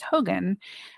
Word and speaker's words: hogan: we were brought into, I believe the proper pronunciation is Hogan.